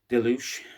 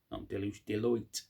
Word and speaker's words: Deloitte: in today's market well um according to um Deluge uh or Deluge however you pronounced Deloitte sorry Deloitte uh football money making um uh part of